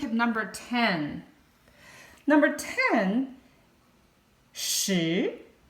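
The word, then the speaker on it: 十: number ten number ten shi it's a rising tone a second tone rising tone as we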